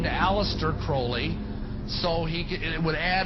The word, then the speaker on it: Crowley: likes to be name pronounced Crowley to rhyme with holy and the statements today